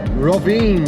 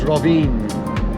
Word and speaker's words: Rovinj: making our way towards ravine I think that's how you pronounce it it's got a j on the end but I think that's silent it looks like ring but it's rine anyway it's beautiful little